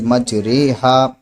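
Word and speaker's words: مجریها: اردو کے لفظ قطرے کی را کی طرح پڑھنا ہے، یعنی ری نہیں پڑھنا بلکہ رے پڑھنا ہے، اس لیے مج رے ہا، اس کو اس طریقے سے سمجھ لیا۔ اب یہ اس کی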